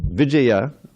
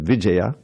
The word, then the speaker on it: Vijaya: Vijaya, you know, we all call him Vijay, but his real official pronunciation is Vijaya.